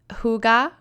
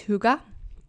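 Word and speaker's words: hygge: the theme was um Huga with your dog am I saying it right it's that h y g g I think it's Huga and it basically means like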